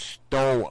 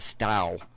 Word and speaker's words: Stow: Well, that was David Coleman from Well, I guess it's actually pronounced Stow, Ohio. I call it Stal.